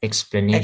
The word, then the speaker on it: explanation: Logical logical explanation. Explanation tuh kan n-nya yang panjang yang sori yang ditekankan kok ketuker ya. Mohon maaf. Logical explanation. Coba yukbah.